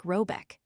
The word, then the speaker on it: Rabeck: The manor house or herrgård in question is to be called Rabeck, pronounced something like Robeck, though that is not its name.